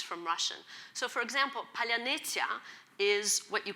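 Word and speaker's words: паляниця: Now, the specific sounds are supposed to be hard for people who have not studied Ukrainian to pronounce. They'll usually say palyanitsa or anyway, there's various versions of it.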